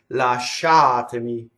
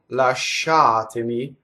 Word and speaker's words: Lasciatemi: its la shot any last shot to me so that is completely on the second syllable okay if I do it wrong last shot to me the she is on the first civil so if I slowed